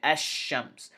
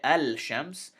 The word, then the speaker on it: الشمس: shakun is written but we combine it with the hamza we say ashams we don't say al-shams we say ashams but